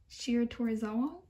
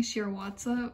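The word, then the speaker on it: Shiratorizawa: have to say this shia toru shira torizawa i'm so sorry i kept on saying shirawatsa for the longest time uh that's definitely not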